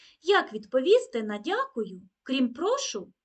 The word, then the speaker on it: прошу: ви доклали чимало зусиль Звертаю увагу на наголос у слові прошу не прошу це дієслово що роблю наприклад прошу прочитати казку а прошу наприклад у відповідь на Дякую говоримо прошу також Зверніть увагу на